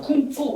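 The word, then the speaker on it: 工夫: 이걸 중국 사람들은 어떻게 발음하냐면 쿵푸 이렇게 발음해요.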